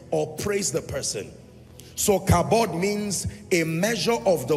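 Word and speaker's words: כָּבוֹד: V replaced with B so k a b o d pronounce kabod and then in other text you will find cavod in any case here's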